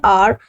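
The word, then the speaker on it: hour: For example, an apple, an elephant, an orange, an R. Now this word though it is beginning with H but in this word this H is silent and the pronunciation of this word like R.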